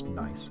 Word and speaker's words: Gneiss: And yes, I know it's nice. It's just, I like to mispronounce things for fun.